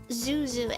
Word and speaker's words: Xuxu: There's like a fruit called Zuzu, and it's spelled XUXU.